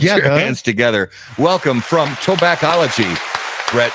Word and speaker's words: Tobaccology: Tobaccology.